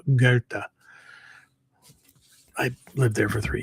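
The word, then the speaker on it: Goethe: Most people would pronounce it Goth or Goth or something like that because the way it's spelled, but it's in German it's actually pronounced uh Gerta.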